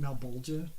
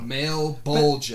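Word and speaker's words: Malebolgia: I don't know if this is like canon or whatever, but like at least in the movie anyway, they pronounce it Malbolgia. I don't know. Male bulge.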